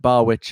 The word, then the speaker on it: Barwich: We were discussing English pronunciation of this German name before but Anne tells me, you think about a witch at a bar, is Barwich a legitimate English pronunciation?